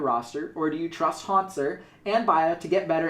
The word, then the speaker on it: Hauntzer: Like, I'm sorry that I mispronounce it, but it's easier to say Haunters than it is to say Hauntzer.